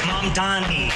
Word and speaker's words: Mamdani: The name is Mamdani. M-A-M-D-A-N-I. You should learn how to say it. अच्छा ममदानी साहब, आपका कोमो के साथ अब कैसा रिश्ता है?